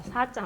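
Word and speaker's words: ས: 우리나라 사자랑은 약간 다릅니다. 여기를 보시면은 역시 이빨 뒤에 닿으면서 바람 새는 소리가 나면서 길고 이 둘 다 길고 약하게 해주셔야 됩니다. 길고 약하게. 자, 사자 한번 같이 해볼게요. 사. 바람 새는 소리가 나죠. 사. 우리나라는 그냥 사 이렇게 이빨에 안 닿게 소리가 사라고 하는데 이 티벳 발음의 사자에서는 이빨에 닿으면서 사. 예, 그렇게 살살 발음을 해주시면 됩니다.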